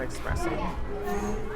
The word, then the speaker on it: espresso: You keep pronouncing espresso with an X.